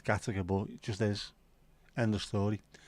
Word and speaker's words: Gateacre: So many people call it Gateacre. It's not fucking Gateacre, man. Makes no sense that it's Gattaca, but it just is.